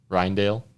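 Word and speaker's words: Rijndael: dale how do you say it again brandon ryandale ryan ryandale and that's an aes algorithm right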